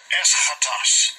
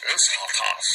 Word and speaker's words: Eschatos: Now this word here, that 2074 they put as last is E-S-C-H-A-T-O-S. How they pronounce it's an adjective and it's describing. This is the Strong's G 2078 Eschatos. Eschatos.